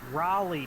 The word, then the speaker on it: Raleigh: Raleigh, just say it like the town, because that's how it's spelled.